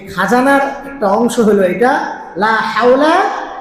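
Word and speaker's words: لا حول: থেকে লা হাওলা মুখটা গোল করবেন ওয়াও এবং পেশ। এই দুইটা জিনিস উচ্চারণের সময় ফোর যত গোল করবেন অত সুন্দর উচ্চারণ হবে। লা হাওলা লা হাওলা।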